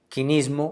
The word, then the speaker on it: quinismo: eso propone el término, contando con la pronunciación griega, quinismo o quinismos en griego.